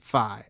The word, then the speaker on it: Phi: I still have trouble pronouncing it Phi. I want to say Fi. Oh, I say FI. I say FI. No, it's Phi. No, it's not. Like, think of it as hi-fi.